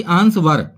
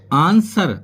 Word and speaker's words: answer: तो वो कैसे हैं फ्रेंड्स, जैसे कि ANSWER, इसको बोलते हैं आंसर, ना कि आंसवर। तो क्या बोलेंगे इसको, आंसर।